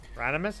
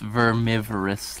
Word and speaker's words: Vermivorous: Also, there's one spot in this map that you can spawn Veranimus, I think? I believe it's pronounced vermivorous, like a vermin or, you know, a gigantic vermin.